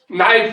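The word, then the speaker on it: knife: की बात मानते हैं, देखो नाइफ लिखो, लेकिन पहले के लिखो उसमें। क्यों मास्टर साहब? साइलेंट है। ये साइलेंट क्या बलाय होती है? ये ऐसी बलाय होती है इस भाषा में कि लिखो लेकिन बोलो मत।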